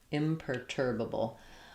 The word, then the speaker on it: imperturbable: Stressing on the tur syllable. So you can think of as e r i r. It's just an straight sound. No there turbable. So I would start on the stress syllable turbable and then add your imper imperturbable.